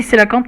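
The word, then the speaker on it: cœlacanthe: Ah non, Coélacanthe, hein, c'est écrit comme ça. Enfin, ça se dit Célacanthe, mais ça s'écrit Coélacanthe.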